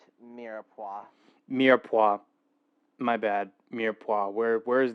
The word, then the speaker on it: mirepoix: It's pronounced mirepoix.